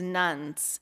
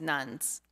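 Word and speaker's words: nones: According to the Pew Research Center, an increasing number of Americans are leaving Christianity and instead identifying as nuns, and that's spelled N-O-N-E-S and not N-U-N-S.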